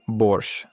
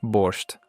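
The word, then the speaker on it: Borscht: It's pronounced Borch, not Borched.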